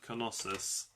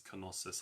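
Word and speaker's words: Knossos: one, the Palace of Kosus? That's in the comments now if that's what you meant. I think Americans say it without the K, but I think the British the British way of pronouncing it is Konosus.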